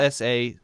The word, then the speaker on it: ELSA: Yeah, ELSA Speak, right? maybe, but they call it Elsa.